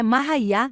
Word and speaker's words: Maria: para ganhar a espiritual Maria cuja pronúncia é mahá nasceu em 1844 em